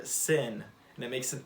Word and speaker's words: שׂ: have the hebrew letter sin and it makes an s noise sin there it is right there and don't get confused i know that it's pronounced the same way as our english word sin but they they aren't